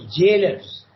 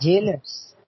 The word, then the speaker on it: gaolers: The word Gaolers is pronounced jailers. Okay, so Jailers.